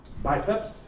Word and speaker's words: BICEPS: policy studies in Ria biceps is that the correct of pronunciation indeed it is yeah Al give you